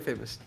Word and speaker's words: Famouz: want to ask is am I saying your name right is it famous or is it like a different pronunciation it's famous it's famous so yeah so where